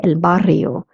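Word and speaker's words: el barrio: saying granda elbario neighborhood double r in Spanish is pronounced as so that's why I say elbario neighborhood eludante means the male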